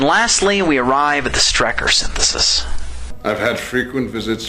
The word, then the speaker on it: Strecker: And lastly, we arrive at the Strecker synthesis. I've had frequent visits from William Strecker. Strecker. His name is Strecker. His name is Colonel William Strecker. Strecker! Strecker! No, I said Strecker, not Striker.